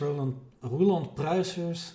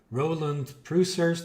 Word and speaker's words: Roland Pruisers: As you guys can see, my name is Roland Pruisers is how you pronounce my name in Dutch. Otherwise, a lot of the English pronunciation is Roland Pruisers. That's also fine.